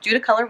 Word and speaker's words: Judaculla: Pilot Mountain, Judaculla Rock, yeah, I pronounced that right, Judaculla Rock, and Mount Richland Balsam.